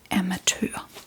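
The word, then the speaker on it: amatør: Amateur.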